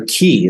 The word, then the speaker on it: qi: Sometimes it's called the vitality or the innate vitality, or it's called the qi, or qi is the right pronunciation in Chinese medicine. So you can think of ki, the qi.